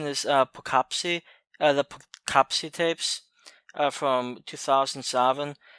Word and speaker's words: Poughkeepsie: This next one is a somewhat interesting movie, somewhat well known, and I believe the pronunciation is Poughkeepsie, the Poughkeepsie Tapes, from 2007.